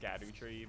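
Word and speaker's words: Scadutree: Cute that all the sunflowers are always facing the skidoo tree. Apparently that's supposed to be pronounced scadoo tree, but it's shadow tree. But it's funnier to say skadoo.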